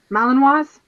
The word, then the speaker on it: Malinois: And like all these people, like here lately, I've been seeing like an uptick in Malinois. Is that how you say it? The German, Malinois?